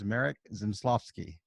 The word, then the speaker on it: Zmysłowski: This is with another episode of Rising Tide Startups, and my guest today is Marek Zmysłowski.